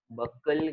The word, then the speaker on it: buccal: आ करने के बाद अंदर का जो पार्ट होता है, इट इज not mouth but इट is called as बक्कल cavity. क्या बोलते हैं इसको? बक्कल cavity.